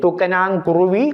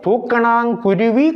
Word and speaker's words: தூக்கணாங்குருவி: நான் இங்கே எழுதி இருக்கின்றேன் தூக்கனாங் குருவி கூடு கட்டியது அது அப்படி சொல்லக்கூடாது தூக்கணாங் குருவி கூடு கட்டியது தூக்கனாங்கு குருவி மூன்று சுழினா தூக்கனா அதுல மூன்று சுழி தூக்கணம் குருவி அல்ல குருவி